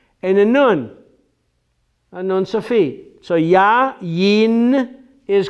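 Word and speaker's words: יין: Yayin. Yayin is correct, not yain.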